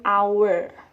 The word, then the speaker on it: hour: Nah, jika kamu menemukan hal yang seperti ini, ya, di awal dia huruf mati, konsonan, tapi bacaannya huruf vowel, itu dia menggunakan en, jadi an hour.